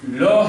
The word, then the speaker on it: la: tell you one thing we pronounce it as love because in french last e is mute so law has got three meanings